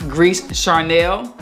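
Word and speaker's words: Gris Charnel: max aroma by bdk is pronounced grease charnelle now uh the same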